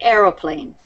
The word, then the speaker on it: aeroplane: a aane or airplane if you're British you would say Aeroplane if you're if you're